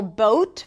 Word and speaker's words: boat: Versus boat, right? Here, it's a long O as in go. And again, I have videos about each one of those vowel sounds, but notice that the O sound is changing. Boat.